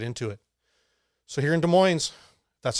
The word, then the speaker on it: Des Moines: So here in Des Moines, that's how you say it.